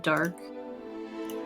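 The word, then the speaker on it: Darq: here a game called I think it's pronounced dark d-a-r-q and there's these women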